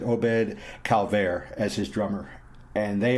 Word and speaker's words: Obed Calvaire: by the name of obed calavera come on miss pronounce it obed calvaire as his drummer and